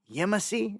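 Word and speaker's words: Yemassee: because down there um this this is in YY is how you say it YY in South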